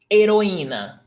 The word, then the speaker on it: Heroína: And remember, the H is never pronounced. It's not pronounced in Portuguese. I won't say never because sometimes we have foreign words that we pronounce the H, but only if they're foreign words.